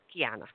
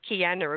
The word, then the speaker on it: Kiana: correctly yes ma'am K Kiana thank you so that's the Aussie accent isn't it K Kiana a bit harder Kiana beautiful absolutely beautiful